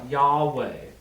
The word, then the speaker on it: Yahweh: scholars believe that historically in ancient hebrew the letter valve was a w in a sense so in ancient hebrew it would be pronounced yahweh which again the jew